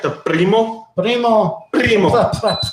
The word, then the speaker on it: Primo: Primo. Primo. Roll that R, Jay. Roll that R. Primo.